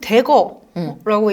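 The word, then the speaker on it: Dagger: 일단 요거는 대거라고 읽는데요.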